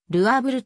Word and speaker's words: ル・アーヴル: 位でありいう音なのでルアーブルと読むありがとうございますします